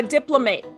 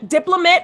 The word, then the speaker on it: diplomate: order to become a a diplomate diplomate or diplomate i've learned is the proper pronunciation in order to become